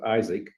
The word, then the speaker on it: IASC: we we pronounce uh some people call it IC like MAA but we we pronounced it Isaac now I know that I doesn't spell Isaac